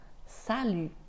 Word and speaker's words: salut: elle se prononce u donc tu dois faire comme si tu faisais ou mais en même temps tu essaies de faire donc U et attention la lettre